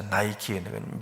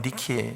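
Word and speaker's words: Νίκη: 그래서 왜 유명한 그 신발 만드는 회사 나이키는 미국식 발음이고, 헬라 발음을 하면 니케 이렇게 되는 거예요.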